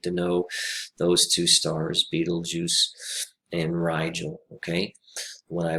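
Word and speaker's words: Betelgeuse: a very strange name it's pronounced beetlejuice just like the movie in the 80s it is a very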